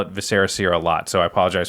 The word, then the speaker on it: Viscera Seer: I like how you pronounced it correctly. Viscera Seer. I know we got so many darn It's like comments. eviscerate. Oh, I learned that. That's but I still will call it Viscera Seer a lot, so I apologize for all those